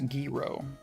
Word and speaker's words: gyro: ever get money so why why gyro it's pronounced guiro let's turn that gyro